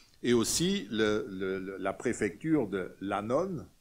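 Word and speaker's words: annone: Et aussi la préfecture de Lanon, c'est pas une dame, Lanon, ça s'écrit A-N-N-O-N, c'est le ravitaillement en blé, notamment essentiel pour une mégapole comme Rome.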